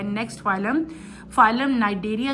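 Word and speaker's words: Cnidaria: आज हम अपने लेक्चर में जो है नेक्स्ट फाइलम फाइलम नाइडेरिया जो है वो स्टार्ट करेंगे। This is phylum नाइंरिया C silent है। इसको प्रोनाउंस आप नाइरिया करोगे।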